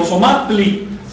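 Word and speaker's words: Ozomatli: Si dicen Osomatli, no olviden pronunciarlo con saltillo. Osomatli. Nunca Osomatli.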